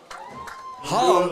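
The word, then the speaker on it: Hvam: Ham, that's spelled H-V-A-M, Baum.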